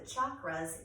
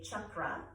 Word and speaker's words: chakra: Now, one of the things you'll notice about the chakras is that, first of all, there's lots of different ways to pronounce it. In the Indian dialect, they would say chakra. There's also people who say chakra or chakra.